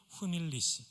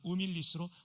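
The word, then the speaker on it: humilis: 가난하고 가난한 종 에트, 그리고 후밀리스 또는 우밀리스로 발음하죠.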